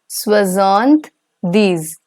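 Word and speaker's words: soixante-dix: come to 70 so 70 in French is swazanth these that's basically 60 plus 10.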